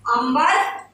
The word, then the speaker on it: अंबर: देखिए सिर्फ मात्रा का अंतर है लेकिन उच्चारण अगर आपने गलत किया तो अर्थ का अनर्थ हो जाएगा, है ना। अंबर, अंबर और अंबार।